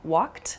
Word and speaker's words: walked: You might hear a word like walked also, which has a sort of T sound about it.